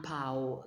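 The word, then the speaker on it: paon: And a peacock, un pao. That N is silent.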